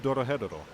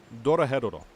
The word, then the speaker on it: Dorohedoro: If you haven't already watched it, go watch Dorohedoro. It's a bit of a mouthful, but we'll spell it out for you again. So that's D-O-R-O-H-O, or H-E-D-O-R-O. And again, Dorohedoro.